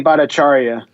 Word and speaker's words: Bhattacharya: his name bataria Chara how do you say his name Jay bhattacharya oh I was very close Jay bharatacharya uh and his colleagues